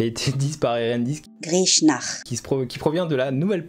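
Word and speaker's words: Grishnákh: Grishnak. Qui provient de la nouvelle page du site, les prononciations chez Tolkien.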